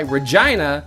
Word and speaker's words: Regina: Francis he says and that's why Regina rhymes with fun Regina is a city